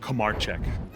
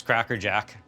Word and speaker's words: Kramarczuk: How many times do people mispronounce Kramarczuk? The worst one I've ever heard was Cracker Jack.